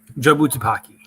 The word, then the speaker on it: Jobu Tupaki: Jobu Tupaki.